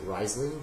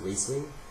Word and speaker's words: Riesling: Some people pronounce it Riesling, but it's actually pronounced Riesling.